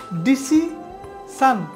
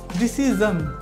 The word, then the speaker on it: decision: এই সিদ্ধান্ত নেওয়ার ক্ষেত্রে মানুষকে বলতে শোনা যায় ডিসি সান। যারা কিছুটা সঠিকভাবে বলার চেষ্টা করে তারা বলে ডিসি শোন, ডিসি শোন। কিন্তু একেবারে সঠিক অ্যাকুরেট উচ্চারণটা হবে ডিসিজন, ডিসিজন, ডিসিজন।